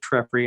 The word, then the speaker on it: Treffry: My name's Treffry.